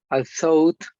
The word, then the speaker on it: although: This word is pronounced like although. Although, Yes. Aunque. like a T at the end. Without the T.